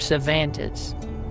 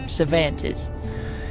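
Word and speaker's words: Cervantes: Now, if you don't have that written down, that's spelled how it sounds, which isn't very helpful. So, I'll spell it out. C E R V A N T E S. Cantis.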